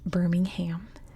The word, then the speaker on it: Birmingham: city in Alabama and yes Europeans mostly the Brits it is pronounced Birmingham in Alabama everything's pronounced a little differently not just in the United States but definitely in the south Birmingham and you can find